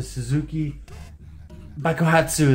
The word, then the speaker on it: Suzuki Bakuhatsu: Hello, fellow worshippers of Zuul Gaming, and welcome back to Suzuki Bakuhatsu, that's how it's pronounced.